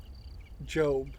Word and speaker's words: Gob: And this is Gob, or Job, G-O-B is how it's pronounced.